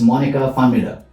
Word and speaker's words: Monika Pfannmüller: So your name pronounced correctly is Monika Pfannmüller, Yes.